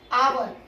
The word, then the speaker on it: hour: तो क्योंकि हैट ह से शुरू है तो यहां पर ए लगेगा, लेकिन आवर आ से शुरू है, उच्चारण हिंदी भाषा के स्वर से शुरू है, इसीलिए यहाँ पर एन लगेगा।